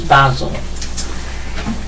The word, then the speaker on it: Basel: pronounce it but it's the correct Swiss pronunciation is Basel in northwest wetland and